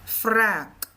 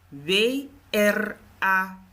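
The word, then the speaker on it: wrâk: Wraak. W-R-A-K. Maar die A heeft dus een circumflex. Wraak wordt dus lang uitgesproken. Je zegt dus niet wrak.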